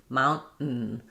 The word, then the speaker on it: mountain: I'm stopping for the T, but I'm not releasing it. Mount, mount, and then I'm just doing another sound, which is a syllabic N. It's no vowel, just so it's kind of basically two N's in a row with an abrupt stop in between.